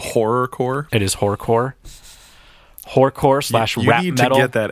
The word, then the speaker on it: horrorcore: It is horrorcore. Horrorcore slash rap metal. You need to get that extra syllable.